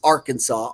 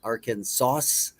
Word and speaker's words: Arkansas: Number one was Arkansas. Ar Kansas, I guess. I don't know how else you could say it. Aransas. Arkansas. I mean, really, Arkansas. Number one, the most difficult.